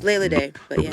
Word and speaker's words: Leila Dey: wrong, and you gotta, So it's Leila Day. Leila Okay. Day. It's not Leila. It's not Leila. It's not Lila. It's Leila Day, and Day is with an E, D-E-Y.